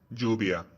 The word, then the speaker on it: lluvia: L double or EJ, lluvia. It is pronounced like the Y, lluvia.